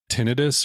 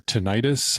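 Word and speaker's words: tinnitus: mind right now is my Tinus or tentis I think it's pronounced both ways oh your ear yes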